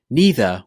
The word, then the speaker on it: neither: The same is for this word: neither with an E sound or neither with an I. Again, both are correct.